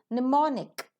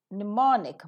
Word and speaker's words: mnemonic: wherever we get in the spellings Mo sound is silent over there so it is mnemonic mnemonic Marketing in the medial position s-u-w-m-e-r summer t-h-u-m-b